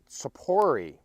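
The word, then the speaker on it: Tzippori: with God in the land today we're at Sapori the Hebrew pronunciation for safaris here in the lower Galilee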